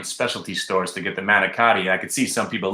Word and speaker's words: manicotti: And they make fun of me because I say it like it's written, manicotti. No? For some reason, in Jersey and Staten Island, it's Managut. Managut.